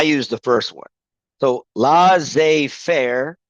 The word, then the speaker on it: laissez-faire: So laissez-faire, the emphasis on fair, and then one lesser used is laissez-faire.